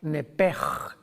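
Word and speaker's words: נפש: La palabra vida en Levítico 11:17, si no me equivoco, es la palabra nepej, que se escribe nepesh en el hebreo, que es la traducción que se usa para designar el alma humana.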